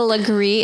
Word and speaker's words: Legree: She's a Legree. Is that how you say it? Legree, That's how I always said it.